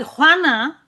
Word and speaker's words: Juana: Juana, it's a very difficult, but Juana and Juan are probably one of the most used names in Spanish royalty.